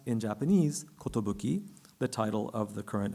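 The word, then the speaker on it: 寿: which means longevity or good wishes, and is pronounced in Japanese, kotobuki, the title of the current exhibition.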